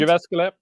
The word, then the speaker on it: Jyväskylä: Jyväskylä.